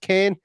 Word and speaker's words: Keane: Keane, where I'm living at the moment in Galway, is pronounced Kane, and Kane in some parts of down the south of Ireland is pronounced Keane.